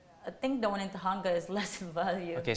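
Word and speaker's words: Tujunga: So one you said is in Tahanga.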